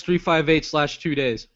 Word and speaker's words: 358/2 Days: Kingdom Hearts 358/2 days.